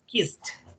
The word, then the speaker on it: kissed: C, or in X, you have to pronounce it like a T, okay? For example, in this case, is kissed, okay?